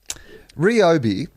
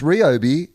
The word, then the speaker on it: Ryobi: have just come up ryobi is how it's pronounced uh podcast mike has put that up on the little message window and it says it's ryobi source i can read japanese